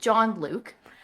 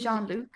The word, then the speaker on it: Jean-Luc: this fucker's actual name is it John Luke no his name is John Legend Jean Jean Luke I think it's Jean-Luc this is Jean because it's it it's spelled like Gene like a pair of jeans it might very well